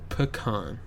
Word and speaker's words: pecan: you know that um pecan pie pecan okay so pick on that but when I'm talking